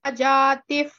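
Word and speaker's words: जातिः: Satta Jatif Pramameya. Satta Jati Pramameya. Satta Jati Pramameya. Jatif. You have to pronounce that visarga as f.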